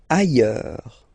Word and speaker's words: ailleurs: Ailleurs. Look, final S not pronounced, and then you've got this y sound.